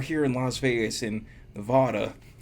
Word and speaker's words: Nevada: like, oh, we're here in Las Vegas in Nevada. It's Nevada. Just say Nevada.